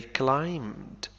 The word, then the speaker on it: climb: And they climbed for a short time. They climbed تسلق for a short time لمدة قصيرة لوقت قصير. climb حرف ب لا ينطق نقول climbed.